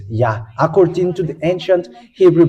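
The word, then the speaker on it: יה: how to read this it's yah that's how we read this yah according to the ancient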